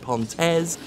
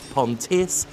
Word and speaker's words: Pontes: over and over again, with different pronunciations of the surname. Gilson V. Pontes, some have said Pontes, Pontis. I don't know. I've always said Pontes.